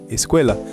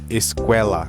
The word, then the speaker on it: escuela: Então, geralmente, essa palavra aqui, as pessoas diriam escuela, tá? Mas não é escuela, é sempre E.